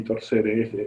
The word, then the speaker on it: torquere: Torque del latín torquere, latín torquere sería una cosa así, torcere, esto se pronuncia como una K, que significa torcer.